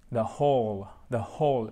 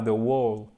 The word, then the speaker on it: whole: Ok, guys, et là, on ne prononce pas le W. The whole, pas the wall, non, the whole, difference, ok? Whole, il n'y a pas difference, mais whole, faut vraiment whole, faut ouvrir la bouche, ok?